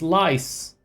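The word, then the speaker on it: Lyse: Lysa, not lease. Why are you pronouncing it like that? It's lice cuz she's a little louse and she doesn't want to go away.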